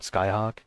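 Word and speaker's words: Scáthach: I think you actually pronounce that Skyhawk, but it looks like Scat Hack.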